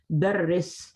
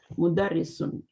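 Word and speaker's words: مُدَرِّسٌ: ये मुदर्रिस है, दर्रिस, दर्रस नहीं बोलना, मुदर्रिसुन।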